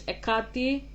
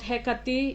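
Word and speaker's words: Εκάτη: Her name is Ekati. Nothing beyond that. Not Heati, not Hkate, it's Ekati.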